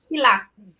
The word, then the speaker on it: Gila: anywhere in the book that he's seen a Gilla monster. Anybody know about that? I don't think I've ever heard of a Gilla monster. Gila.